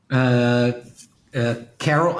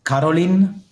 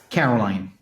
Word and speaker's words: Caroline: Carol. I mean, it's Caroline. I think. Yes. That's it. The real pronunciation. Yeah. Caroline.